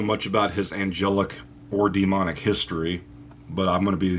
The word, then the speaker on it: Daemon: And it's spelled Daemon as in D-A-E-M-O-N. So it's pronounced demon, but it has a different connotation.